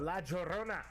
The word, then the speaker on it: La Llorona: How you pronounce that? La Llorona.